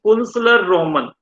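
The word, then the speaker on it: Künstlerroman: Here T is silent. It's Kunstler Roman.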